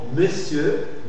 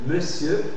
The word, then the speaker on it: monsieur: on n on n la graphie on dans le mot monsieur monsieur c'est une prononciation de d'accord monsieur c'est clair parce que